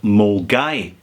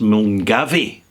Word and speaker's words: Milngavie: It's a very pleasant place, actually, in the north of Glasgow called Mulgai, except when you look at it and pronounce it phonetically, it's pronounced Mulgavy, right?